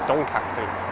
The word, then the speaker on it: donkatsu: you ryan you tonkatsu usually when it's korean you'll see it's spelt with a d and when it's japanese you'll see it's spelt with a t but really it's the same character it's like a very hard d donkatsu and there's two kinds